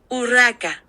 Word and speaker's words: Urraca: Louis was supposed to marry her sister, but her name, Google Translates tells us, is pronounced like this. Urraca.